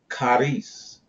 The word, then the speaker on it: charis: The Greek word in the New Testament translated as grace is the word charis. Charis. All right? It is phonetically related to the English word caress.